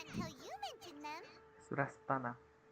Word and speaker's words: Surasthana: We had never even heard of Greater Lord Rukadalata or the Sanctuary of Surasthana until you mentioned them. Surastana. That's how it's pronounced.